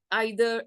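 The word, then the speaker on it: either: Quantifiers, all, each, every, both, आइदर और नाइदर। आइदर नाइदर भी बोलते हैं इसको, इधर नीदर भी बोलते हैं, दोनों तरह से आप इसको प्रोनाउंस कर सकते हैं।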